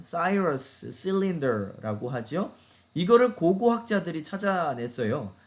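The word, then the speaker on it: Cyrus: 그게 뭐냐면 고레스의 원통 키루스, 또는 영어 발음으로는 사이러스 실린더라고 하죠.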